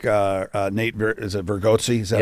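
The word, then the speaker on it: Bargatze: I also like Nate, is it Vergozzi?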